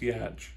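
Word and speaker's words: Giertz: swedish so it's about g-i-e-r-t-z but it's pronounced yatch i think i'm gonna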